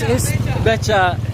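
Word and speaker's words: becak: It's Becha. Okay, thanks. Again, we've been saying it wrong. We've been saying Bekak, so that's why no one's understood. It's called Becha.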